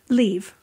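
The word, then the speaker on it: Liv: right accent her pronunciation I'm trying leave like leave oldman right she organized group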